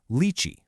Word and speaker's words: leite: But with our vowel shift, that final e transforms into an i and it becomes leite.